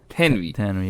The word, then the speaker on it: Thanwi: Hazrat Thanwi rahimahullah passed away in 1940s.